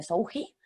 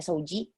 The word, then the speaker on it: Souji: con j que mucha gente en España lo pronuncia soui vale se pronuncia sji por ser japonés pero en realidad pues bueno